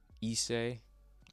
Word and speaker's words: Issei: My name is pronounced in many ways, but I like to go by Issei.